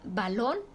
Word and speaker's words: balón: a izquierda por ejemplo la palabra balón es aguda su sílaba tónica está en Long la última sílaba y